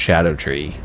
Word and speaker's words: Scadutree: It's spelled Scadutree, but it's pronounced Scadutree.